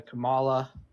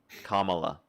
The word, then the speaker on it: Kamala: And I'm sick of the Camala Camela. Kamala. Camila Kamala.